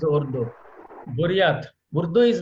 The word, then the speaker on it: Ordos: Ordos is something like Urdu. The pronunciation is Urdu.